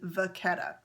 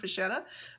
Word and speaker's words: Vachetta: So if I'm looking at it from an Italian point of view, it would indeed be Vachetta, but this is a French company, and I did a little bit of research.